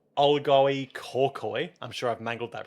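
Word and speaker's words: Olgoi Khorkhoi: Because I can actually pronounce probably. Good luck. My dad worked in Mongolia. Oh. Olgoi Korkoi.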